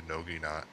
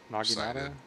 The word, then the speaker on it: naginata: The Noginata? Noginata is a two-sided. Naginata?